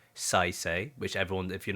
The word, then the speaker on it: Saisei: So that's what says is it Saisei if I say it right Yes.